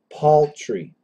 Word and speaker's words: paltry: is actually for standard American would be an aw like p a u l Paul Paul tree paltry paltry poultry poultry so uh